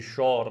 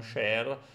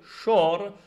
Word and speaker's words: Shor: Ebbene, questo tizio, il cui cognome credo si pronunci Shor, non Sher, ha dovuto abbandonare la Moldavia